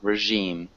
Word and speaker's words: regime: negotiating negotiating regime regime yeah it's like a j regime regime yeah and received